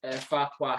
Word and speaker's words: Farquhar: She's based up in Dundee, up at Farquhar Hair, and it is pronounced how we used to say Lord Farquhar.